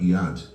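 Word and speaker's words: יד: Por exemplo, a palavra iad, mão, era escrita apenas com iod e dalete, mas o leitor sabia que o som era IAD com a pelo contexto.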